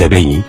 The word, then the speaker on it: Abé: L'histoire commence avec la déportation des Abéis, prononcée Abé.